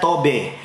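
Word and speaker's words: טוב: Saya melihat dari bahasa asli Ibrani, menggunakan kata baik, menggunakan kata tob, bacanya tobe, yang mempunyai pengertian yang pertama baik, sedap, manis, senang, dan menyenangkan.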